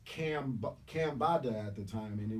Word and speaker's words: Cambatta: And while I was writing it, I was like, my name's Cam. It rhymes directly with Bam, even swap. I like to do that, like Marcus Garvey or the Barrio brothers. So it's Cambatta at the time, and